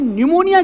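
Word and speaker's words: pneumonia: मुझे निमोनिया हुआ और मुझे यह पता चला कि निमोनिया की स्पेलिंग एन से नहीं पी से शुरू होती है। कहते हैं पी साइलेंट है।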